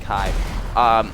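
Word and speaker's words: David Kaye: And then David Kai also, or David K, however you pronounce it. I pronounce it Kai.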